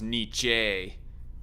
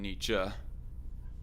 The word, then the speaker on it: Nietzsche: of nietzsche i pronoun i heard it pronounced more as knee jay more than nietzsche but whatever you're saying